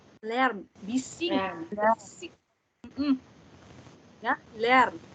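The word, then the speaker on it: Lärm: Lern. Bising. Ya, lern. A umlaut dibacanya E.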